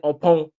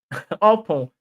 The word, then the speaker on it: Oppong: anything what we need to know about, Bunini Becker say Oppong, Oppong, yeah, that's how they pronounce it.